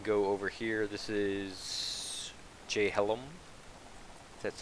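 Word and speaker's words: Jhelom: um we can go over here this is jay hellum that's how you pronounce it correctly you can tame the cows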